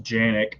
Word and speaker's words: Canik: i mean you know canik makes the metal or it's pronounced janic in their country but you know it